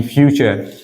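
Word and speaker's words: future: जैसे मैंने कहा एफ ई टी यू आरई फ्यूचर फ्यूचर का मतलब क्या होता है भविष्य क्या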